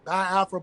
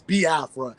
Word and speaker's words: Biafra: how to pronounce it some people say ba Afra because they don't really you know over understand the you know the pronunciation when it comes to the i e sounds but it's ba Afra because even myself even